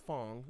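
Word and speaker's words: Phong: It's not Pong, it's Fong.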